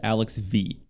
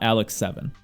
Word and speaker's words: Alex V: heard in chat that the way people say his name is alex v not alex seven i just call him